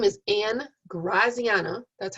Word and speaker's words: Graziana: sections have great uas my name is ann graziana that's how you pronounce it graziana um people usually call me ann or miss